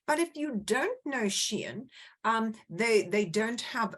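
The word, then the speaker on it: Shein: it's an e-store of course is I originally pronounced the shine in fact it's pronounced Sheen and there was a I looked at it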